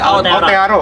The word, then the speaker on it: Aotearoa: Ya pokoknya explore out, bacanya apa sih? Aotearoa.